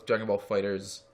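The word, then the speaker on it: Dragon Ball FighterZ: No, it's Dragon Ball Fighters. That's the official pronunciation.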